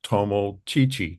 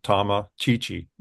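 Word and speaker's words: Tomochichi: entitled historical sketch of Tomo Chichi or Tom Chichi depending on the pronunciation and this is a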